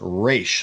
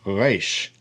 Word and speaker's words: resh: Now, resh is a guttural, and sometimes, if especially among Ashkenazi Jews, it'll be pronounced resh, like an R sound, resh. More Mid-Eastern, you'll hear them, they'll pronounce it further back in the throat, resh, resh. So it's like almost a guttural. It's not like a one of those guttural sounds, but it's close.